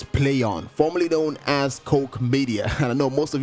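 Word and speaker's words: Koch Media: Publisher's name is play on formerly known as Coke media and I know most of you might actually pronounce the wrong yeah boy but it's pronounced Coke media it is a German publisher and they've been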